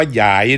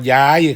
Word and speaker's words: หยาย: กัน ครับ มื้อ นี้ เสนอ คำ ว่า หยาย ออก เสียง ว่า หยาย เด้ ครับ หยาย บ่ แม่น ออก เสียง ว่า ยาย ครับ เพราะ ความ หมาย สิ ต่าง กัน ครับ ฉะนั้น คำ ว่า หยาย